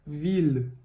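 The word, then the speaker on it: ville: Vil mas de novo Vitor cadê o a última letra ela não é pronunciada de novo exatamente o e também é o mesmo caso quando tá no final da palavra a gente não vai pronunciar vai ficar Vil Vil TR a gente já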